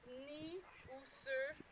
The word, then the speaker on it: Niuserre: So when you pronounced it, you didn't pronounce the N sound. It's Niuserre.